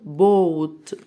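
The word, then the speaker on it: boat: يبقى او القارب اسمها حرف الايه هنا مش هنطقه اللي شايفه اللي كانت شايف الفيديو بتاعي اللي كنت بتكلم فيه عن الاصوات الطويله هيعرف ان حرف الاي هنا جاي بيساعد صاحبه اللي قبليه الاو انه يقول اوه ويقول اسمه فمش هنطقه مش هنطق اللي بيساعد انا هنطق حرف الاو بو بو تقارب بوت واللي معي بحر يعني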